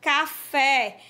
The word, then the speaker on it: café: exemplo uma palavra oxítona café a sílaba fé você pronuncia ela com mais tonicidade é boneca é uma